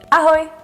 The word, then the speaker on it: ahoj: The way to pronounce it is dobrý den. Dobrý den, dobrý den. And the informal one is ahoy, ahoy, Ahoy.